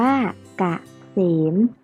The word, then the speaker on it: เกษม: เลย ค่า า พ่อ เกษม อ่าน ว่า เกษม หมาย ถึง ความ สุข